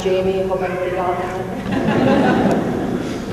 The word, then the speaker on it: Jami: Side note, it's spelled J-A-M-I and it's pronounced Jamie.